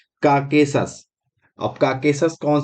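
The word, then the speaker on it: Caucasus: उसका नाम क्या है, काकेकस। ठीक है, कौन सी है, काकेकस, काकेसस, काकेसस, थोड़ा प्रोनाउंसिएशन गड़बड़ हो रहा है, काकेसस।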